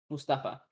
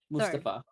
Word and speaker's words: Mustafa: How would you pronounce this? Mustafa that Mustafa of the Ottoman.